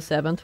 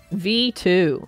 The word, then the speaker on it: VII: game starting at the seventh one oh it's actually not seven it's V2 is it how it's uh pronounced V2 this is actually the